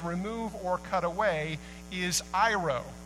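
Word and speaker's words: αἴρω: The word that most Bibles translate as remove or cut away is iro, pronounced like Cairo without the C.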